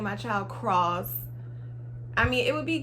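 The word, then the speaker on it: Kross: lauren london's son and it is cross and it's spelled k-r-o-s-s though like a cross but you spell it different i thought that was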